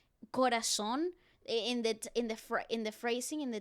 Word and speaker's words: Corazón: Pronounce that Z like he was from Madrid, bro. Corazón.